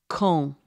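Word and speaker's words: Caen: of their top choices c-a-e-n is kong you say it exactly like kong q-u-a-n-d which means when see that one's easy kong is like when here's another one that's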